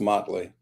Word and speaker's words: Motley: Okay, it's pronounced Motley, just for point of correction.